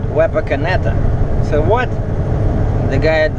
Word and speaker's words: Wapakoneta: And yesterday I only went as far as Wapakoneta. Or as it turns out, the town is actually called Wapakoneta.